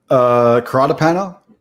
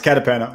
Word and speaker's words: Catapano: How do you pronounce that? Catapano? Caratapano? Oh, No, it's Catapano. You're right.